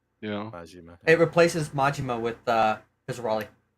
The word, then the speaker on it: Majima: Is that how you say his name, Majima? Yeah. Majima.